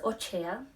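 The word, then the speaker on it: הושע: Vamos a iniciar con el libro de Oseas, escrito en hebreo es Ochea, creo que así se pronuncia, que significa Dios ha salvado.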